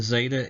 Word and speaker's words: zeta: And we'll go over pronunciation a little bit more again, but again, zeta is Z sound, eta, A sound, just like it says, eta, A.